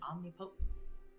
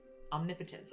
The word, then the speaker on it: omnipotence: Justice incited my sublime creator created me divine omnipotence. Omnipotence. I always say it like that. Like my brain is like break it into two words. It's omnipotence.